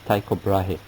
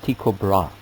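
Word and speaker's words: Tycho Brahe: history of astronomy is Tao brah a Danish professor and in our University by name of inab book tells me that actually it should be pronounced tiob bra doesn't matter he was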